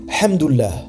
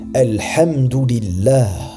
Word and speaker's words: Alhamdulillah: D'autres disent donc Hamdoullah, qui signifie louange d'Allah, ou Alhamdulillah, qui encore une fois est une erreur. La seule prononciation correcte est Alhamdulillah.